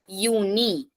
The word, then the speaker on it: Juni: Der Juni. So starting from J, pronunciation Y. Juni. Then der Juli.